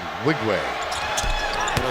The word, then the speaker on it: Nwigwe: That's spelled Nwigwe. Unwigwe.